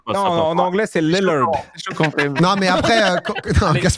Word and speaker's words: Lillard: Le double L en anglais se prononce I. C'est trop. Non, mais c'est bon, ça passe. Non, en anglais, c'est Lillard.